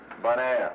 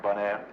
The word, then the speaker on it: Bonaire: Bonaire, you know, bon, good, air, Bonaire.